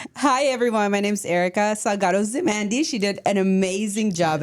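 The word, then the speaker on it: Erika Salgado-Zimandy: Hi everyone, my name's Erica Salgado-Zimondi.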